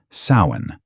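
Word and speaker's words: Samhain: This night was called sin, spelled s a m h a i n, but pronounced sain.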